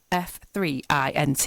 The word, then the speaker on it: F3INT: now the band has it's spelled faint but that the e is a three so it's F three int if you want to